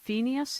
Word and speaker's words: Phineas: Phineas, is that how you pronounce his name?